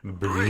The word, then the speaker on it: Brut: How to pronounce Brut. Brut.